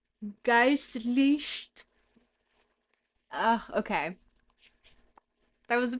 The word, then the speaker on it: geistlich: How do I pronounce this one? Geistlich. Geistlich.